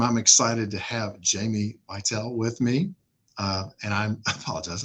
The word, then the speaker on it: Beitel: This time, I'm excited to have Jamie Beitel with me. And I apologize, I mispronounced that, Jamie. It's okay, it happens a lot. You're used to it. How should I pronounce that, Jamie? Beitel. Beitel.